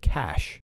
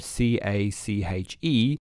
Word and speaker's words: cache: that follows i forgot to use the international pronunciation of the word cash cash as in the small amount of high-speed